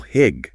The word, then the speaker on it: hygge: Hygge. Pronounced hygge.